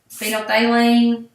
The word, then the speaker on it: phenolphthalein: means it's an acid so I say it like this phenolphthaleine stays clear it's an